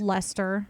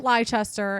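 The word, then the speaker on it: Leicester: there's the one place Lester yeah yeah it looks like leester or something that it looks like leester and it's pronounced Lester but still Wester is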